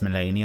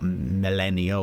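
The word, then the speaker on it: Malenia: So it is pronounced Melania, not Melania or Melania.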